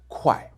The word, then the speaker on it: 快: Put a K in front of this sound and the fourth tone, and you've got fast in Chinese, 快, which is also the pronunciation for a measure word for money in Chinese.